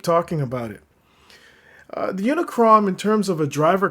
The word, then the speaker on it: Unicrom: It's not Unicorn, it's Unicrom. It is what it is.